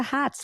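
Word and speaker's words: Hotz: social media in the show Notes too Julia Hots I just love that name so much I'm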